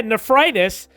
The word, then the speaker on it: nephritis: And then his death and his legacy, Fairbanks died of nephritis. Yeah, nephritis. I just looked it up to see if I pronounced it right. Yeah, nephritis. He died at his home on June 4th of 1918 at the age of 66.